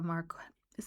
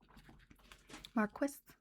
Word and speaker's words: Marquis: the daughter of a Marqu is it Marquest or Marquez? Let's find out. Marquist me. Marquis. Marquis. Really? Is Is that the way we'd pronounce it in Canada?